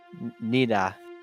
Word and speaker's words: Nida: Nida is how it's pronounced. It's Nida, like Nida. Yeah, but it's spelled kind of wonky.